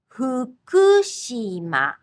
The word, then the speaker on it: Fukushima: It's like gently blowing out a candle. Hu, hu, hu, hu, fuji, fuji, futon, futon. Just pucker your lips and gently blow. Fukushima, Fukushima.